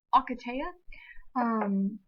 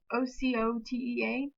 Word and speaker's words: Ocotea: Acatea. Ocotea.